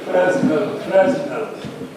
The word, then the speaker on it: Fresnel: First of all, I am hearing Fresnel. Fresnel, he was French, and the pronunciation is Fresnel.